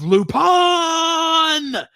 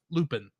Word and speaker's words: Lupin: have to call him pronounce his name in the japanese way of lupone instead of looping as is a little